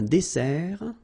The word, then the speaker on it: dessert: So remember that we've got here two S, okay? That's the reason why you pronounce it S, and then it opens the dessert, un dessert. So you don't say un dessert, okay? But you say un dessert. Final T not pronounced.